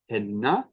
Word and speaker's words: henna: But when we see a double N in a word like henna, we pronounce it double.